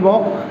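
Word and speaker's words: walk: घूमने के लिए क्या होती है, घूमने की होती है वॉक, इसको वॉल्क नहीं बोलते, इसको वॉक बोलते हैं, इसमें एल साइलेंट होता है, ठीक है।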